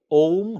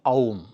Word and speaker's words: ओम: अ plus उ plus म। इसमें आकार का रेफ लंबा है और अ से जब आप म की यात्रा करेंगे तो ऑटोमेटिकली बहुत थोड़ी देर के लिए उ का उच्चारण होता है।